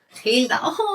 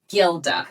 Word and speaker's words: Gilda: So, it is the hilt. Hilda. Okay. However, in English it would be pronounced Gilda.